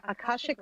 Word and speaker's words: Akashic: Can you explain that and pronounce that again, please, if you don't mind? Sure. Akashic records.